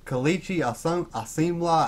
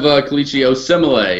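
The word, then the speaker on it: Kelechi Osemele: At guard, I have Kalichi Asimla. I don't even know if I'm saying that correctly. Josh Klein and Xavier Sulafilo. I have Kalichi Osemele, is how you say it.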